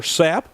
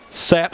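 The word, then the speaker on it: Tsapp: We'd assume the T is silent. As Vento will look in and come set. Full count delivery. Sapp got around on that one really well.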